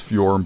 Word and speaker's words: Fjorm: I know her name is Fjorm, but she doesn't deserve her to have her name pronounced right.